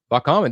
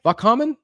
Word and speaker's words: välkommen: Välkommen. Did I say it right? Välkommen?